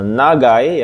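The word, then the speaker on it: 長い: ini adalah kanji eh bacanya yang benar adalah pilihan nomor sat ya minangsang ini eh Nagai ya kanj Nagai seperti ini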